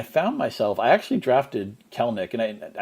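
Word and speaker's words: Kelenic: myself i actually drafted kelnick and i i know it looks like kalanick i believe it's actually kelnick even even though it looks like it should be three syllables i actually drafted him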